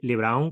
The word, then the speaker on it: Lebrón: Yo Sí, digo de Juan Lebrón. LeBron, como LeBron James.